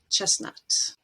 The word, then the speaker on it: chestnut: Christmas, mortgage, and chestnut. In pronunciation or phonetics, phonology, we have a concept